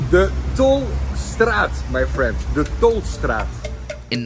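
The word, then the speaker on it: Tolstraat: It's pronounced the Tolstrad, my friend.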